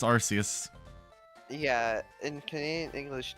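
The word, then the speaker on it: Arceus: like the UK yeah in the UK ARS is like you know a bad word I guess for it's like ass they just haded they added an r in there to be special and it looks it sounds stupid it's arus yeah in Canadian English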